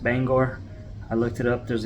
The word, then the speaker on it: Bangor: using localizer Runway 33 in Bangor main it's pronounced Bangor I looked it up there's extensive pronunciation videos